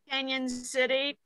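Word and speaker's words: Cañon City: what part of Colorado are you in Stephanie Canyon City um it's about an hour and a half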